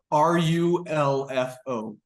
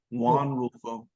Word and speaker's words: Rulfo: Rulfo, Rulfo, Juan Rulfo.